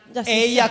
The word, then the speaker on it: Eia: Eia con la I lunga.